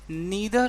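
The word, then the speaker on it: neither: चलिए अब आता है दूसरा सेंटेंस है कि नीदर ऑफ द two girls. नीदर को आप नाइदर भी कह सकते हैं, दोनों ही तरीके से प्रोनाउंस होते हैं।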